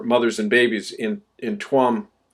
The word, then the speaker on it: Tuam: and babies in in tuam it's pronounced chom actually in irish tuam tuam ireland now